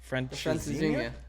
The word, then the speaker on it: Francesinha: You might have to help me out with the I pronunciation. knew it. It's because Francesinha? Yes. Francesinha.